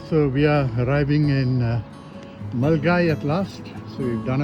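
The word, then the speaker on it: Milngavie: Spelled Milingavi, but it's pronounced Mulgai.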